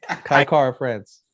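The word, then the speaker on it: Kai Kara-France: power advantage, I think how do you say Kai Cara France. France? Kai Cara France.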